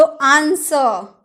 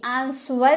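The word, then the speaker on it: answer: आऊंगी व तुम बताना तो आंसर आंसर नहीं aansuar हम नहीं बोलते हम बोलते आंसर उत्तर जो हम उत्तर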